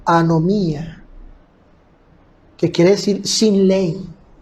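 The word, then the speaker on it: ἀνομία: la palabra infracción infringe viene de una palabra griega que se pronuncia como anomía anomía que quiere decir sin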